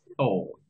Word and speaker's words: thought: Entonces, the pronunciation is thought. Ahí no hay ninguna U. Es una O.